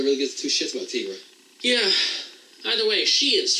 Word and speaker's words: Tigra: Tigra. Tigra! Oh, yeah. Why are you pronouncing it Tigra? There's no two G's. You don't do a Tigger like that. It's, the I is pronounced like a double E.